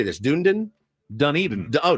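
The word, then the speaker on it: Dunedin: Dunen, Dun Eden. Oh, Dun Eden.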